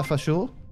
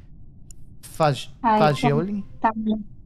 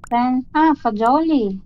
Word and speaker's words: fagioli: Pasta fasciul, is that correct in terms of the pronunciation? Pasta. Pasta fasciul. Like, pasta e fagioli? Fagioli. Fagioli. Okay. So she did pronounce it wrong.